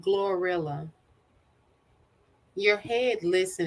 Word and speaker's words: GloRilla: you know I said glorilla your head listen and said gorilla yeah but it's it's dumb as Phil it's more like Gloria yeah it's spelled and